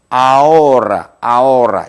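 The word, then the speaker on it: ahora: 아오라 이런 형태로 발음이 되겠고 또 뭐가 있죠?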